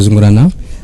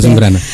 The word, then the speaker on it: Zungrana: Donc je m'appelle Zungrana. Je suis le secrétaire général du groupe Burkindi, les experts burkinabés travaillant dans les ONG au Mali. Enchanté, monsieur Zungrana. Je l'ai bien prononcé. Absolument, Zungrana.